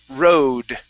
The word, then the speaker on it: road: good uh next is the word road make sure to pronounce that d okay so the road